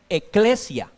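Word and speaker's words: ἐκκλησία: Viene de una palabra griega que se pronuncia o se puede decir en nuestro español, eclesia.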